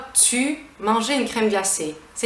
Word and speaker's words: tu: We will pronounce it "tu". "tu", not "t'y", we'll say "tu".